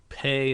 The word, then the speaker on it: Pei: weapon number one um pay is pronounced pay Pei is pronounced pay in case you were wondering in any case this